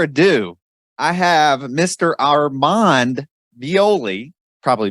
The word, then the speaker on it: Violi: Armand Violi. Probably butchered the last name.